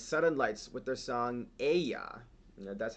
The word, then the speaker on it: Aijā: All right, so the 4th contestant for this semifinal is Sudden Lights with their song Aijā. That's how you pronounce it.